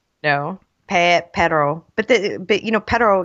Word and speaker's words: pero: Pero. But pero, you need to roll your R in order to make the two different words.